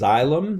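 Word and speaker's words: xylem: this carefully make sure you know it's eylem that's how you pronounce that XY LEM and phloem are and these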